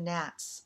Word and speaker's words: nat: and remembered my interest in spirit houses and gnat worship which is spelled n.a.t the gnats are god-like spirits venerated